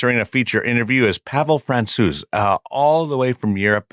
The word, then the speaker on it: Francouz: But when I asked Pavel how you say his last name, and I asked if Francouz was correct, he was very impressed with my pronunciation and said it was the closest anyone got it.